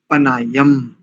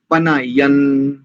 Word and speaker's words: पनाय्यं: देखिए, पनायम, पनायम ऐसा आप लोग बोलते हैं। यहां पर इस अनुस्वार को नकार उच्चारण करेंगे। पनायन, तदश, तदश, विना, तत्